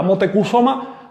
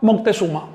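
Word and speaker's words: Motecuhzoma: Es lo mismo que decirle a Motecusoma. Moctezuma.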